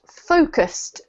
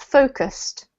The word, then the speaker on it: focused: diminished diminished yeah and this one is pronounced focused two syllables focused focused well done okay before